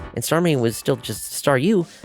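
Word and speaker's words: Staryu: staring was still just Staru, I could never pronounce its name right. I It always ended up sounding like Sou.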